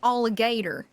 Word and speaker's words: alligator: Wait, no, you don't really pronounce the T. You say alligator.